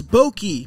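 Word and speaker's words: Bochy: forever got beaten up by the siliconatic Bruce Bokey that's how you say it has 43 crew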